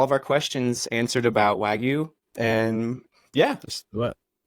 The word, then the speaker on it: Wagyu: And how pronounce it for me? Yeah, so Wagyu, Wagyu.